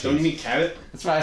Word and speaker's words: Cabot: Vermont, we'll go to the Shabbat cheese factory. Cheese. You I mean, like don't you cheese. mean Cabot?